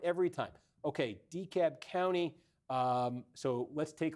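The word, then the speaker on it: DeKalb: I like how they'd say Decab County like they don't pronounce the L.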